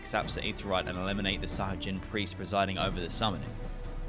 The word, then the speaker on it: Sahagin: Jin, not Gin. Jin? Sahajin or Sahagin? Sahajin. The drink.